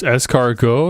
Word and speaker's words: escargot: walter had gone what's escargo it's a french thing it ends with a t if you want to google it escargot but with a t it's a silent t i've had it before